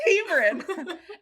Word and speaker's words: Hebron: well 200k in in GCI you are in Hebron Connecticut did I pronounce that right you nailed it yes Hebron and your Niche is at a couple of